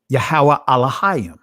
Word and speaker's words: Yahuwah: say uh yahweh elohim but i'm i'm pronouncing this from the ancient pronunciation it would be uh yahuwah and when you look